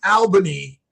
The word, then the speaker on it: Albany: It's not all, but it's Albany, but but but you're right. It's You pronounce it all.